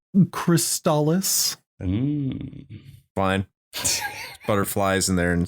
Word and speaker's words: Crystalis: you can't see it the official commercial in North America pronounces it crystallis fine butterflies in there